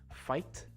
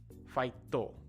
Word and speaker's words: fight: in most Japanese words, we use the to, right? Fight, fight-to. Fight, fight-to, right? Or how about do, right?